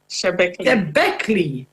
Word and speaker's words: Shebekli: while pursuing ventures like Sebelsi. Is that correct? I knew you were going to laugh. I respect myself. Is that correct, though? Sebelsi. How do you pronounce that word? Shebekli.